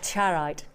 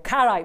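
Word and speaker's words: charoite: you for 300 carats of charite or carite, whichever way you want to pronounce it.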